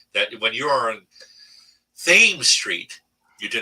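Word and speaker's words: Thames Street: tradition in baltimore that when you are on theme street you do not pronounce it chem street and you will be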